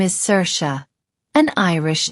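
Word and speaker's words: Saoirse: Let's say my name is Cersa, an Irish name. I could say I'm Cersa. It's like sir sha. Seir like someone who sees the future and sha like the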